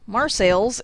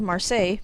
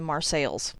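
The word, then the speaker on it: Marseilles: it on a similar note marsales instead of marseille because of course from what i could find this town was called marseille like the french city in 1835. i have no idea why the pronunciation changed to mars sales in french the last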